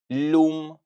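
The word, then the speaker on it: lumë: L For example, a river in Albanian, you can say lum.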